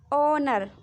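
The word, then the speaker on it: honour: अगर देखिए ओ से पहले कहीं पे एच आता है ना तो एच साइलेंट हो जाता है।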